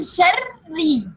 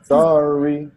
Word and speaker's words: شر: When we want to pronounce it, we will pronounce it with two ra. Okay. First of them is second, and the second is with kasra.